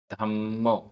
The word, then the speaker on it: धम्मो: गाथा क्रमांक 96 उच्चारण गुत्ति आधा त पूरा गुत्ति गुत्ति समधि समधि धम्मो आधा मा पूरमा धम्मो धम्मो अनुवेखा आधा क ख